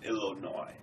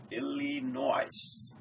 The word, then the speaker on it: Illinois: University of Illinois and I could not even pronounce Illinois uh I looked at the spell spelling and I said oh IL noise so one day I